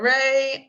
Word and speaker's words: Rae: can find me at ray of light digital so rey is spelled like my middle name it's r a e ray of light digital